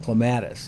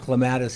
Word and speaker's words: clematis: I listen to the different pronunciations of clematis. We've always pronounced it clematis here. They pronounce it clematis.